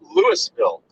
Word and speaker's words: Louisville: please don't say that to me just like lewisville the s is silent we live in illinois there is no